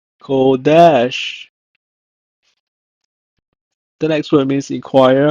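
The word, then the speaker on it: קדש: In Hebrew, is pronounced as kodesh, kodesh.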